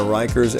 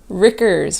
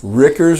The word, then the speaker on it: Rikers: you pronounce your name Ricker's we say rigors rhymes with stickers Ricker's rhymes with stickers I like it so the reason for dr.